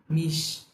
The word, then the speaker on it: mich: ওকে, তো হচ্ছে ইস, মিশ বলার সময় যাতে হচ্ছে আমার জিহ্বার অগ্রভাগ সামনের দিকে থাকে, ইস, মিশ।